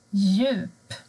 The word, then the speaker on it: djup: Men har du D och J tillsammans, då försvinner D. Du hör inte D. Till exempel djup, djur.